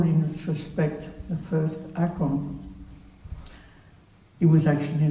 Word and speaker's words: Akön: in retrospect the first Akong. It was actually not the first at the time, it was just Akong. The name itself is written Akön, but his parents always pronounced it Akong, and it remained as Akong.